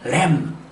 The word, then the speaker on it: lamb: 이렇게 끝이 MB로 끝나는 단어는 이유 불문하고 B가 묵음입니다. 따라서 새끼양, lamb, thumb, bomb, comb.